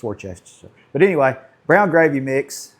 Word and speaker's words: Worcestershire: I know how to say it. It's Worcestershire.